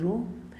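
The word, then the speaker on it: ρ: This is we write it as we pronounce it as row and this is known as resistivity.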